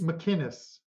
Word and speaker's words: McInnis: It's McInnis. There's no G in it.